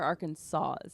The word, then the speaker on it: Arkansas: The S is confusing. Yeah. It's spelled like Arkansas. Yeah. Like us too. Yeah. Or a pirate. Kansas. Yeah, it's spelled like that. but it's not. It's not said that way at all.